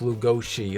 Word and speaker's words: Lugosi: And by the way, his name is pronounced Lugosi, like it's like that.